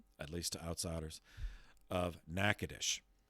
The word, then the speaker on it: Natchitoches: least to outsiders, of Natchitoches. And the phonetics do not at all correspond to the spelling. So Natchitoches is spelled Natchitoches.